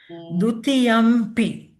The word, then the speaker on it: dutiyampi: But we pronounced Dutiyampi, ma. Oh, that's right. No, that's different. So Yeah. dutiyampi, it's distinctly a m there because it's Yes. followed by a, and it's a labial sound pronounced with the lips.